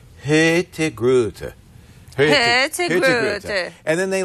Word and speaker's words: Hurtigruten: It's spelled Hurtigruten. Yes. And in Oslo, it would be pronounced Hurtigruten. Uh-huh. But in Kristiansund, where we were on the West Coast, they have a different accent. And they drop the N and they drop the R.